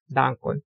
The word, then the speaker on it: Dankon: 음절 한글은 전부 이런 식으로 되어 있는데 그러면 여기서는 룰을 강하게 읽고 여기는 단을 강하게 읽고 여기는 발을 강하게 읽고 쌀 룰 돈 당 돈 바르 돈 여기서는 Esperanto estas malfacila.